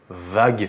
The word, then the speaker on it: Varg: Et par exemple, quand on dit Varg Vikernes, bah en anglais le R va se mâcher et on va dire Varg. Donc la prononciation qui se rapproche le plus en français, ce serait Vague.